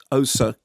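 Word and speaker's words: Xhosa: Exocet that hang on osa community i my pronunciations Rosa no but it's XH yes so as a click better click I don't think you're expected sake cosas with it with the click unless you are indeed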